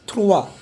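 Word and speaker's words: trois: सो और अगर दोपहर के 3 बजे हैं, 3 PM, so what is 3, इट इज थ्रुआ.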